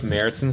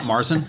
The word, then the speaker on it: Märzen: It's not Marzen? No, it's Märzen.